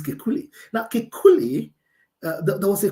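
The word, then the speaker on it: Kekulé: don't French people Dr I don't know whether that's a way to pronounce his name k e k u l e his name is Kuli now Kuli there was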